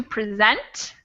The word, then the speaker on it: present: And our first two, you'll notice that the word present is spelled the same as the other two words that we just talked about, but the pronunciation is different because the stress is different.